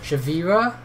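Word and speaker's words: Shiveria: Chavarria no sugar well how do you say that Chavira yeah I think is like Chevy Europe the cake thief's parting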